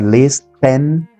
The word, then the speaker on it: listen: read Listen Escuchar oír la t en esta palabra es muda no tien que pronunciar Listen sino Listen Listen la siguiente es decir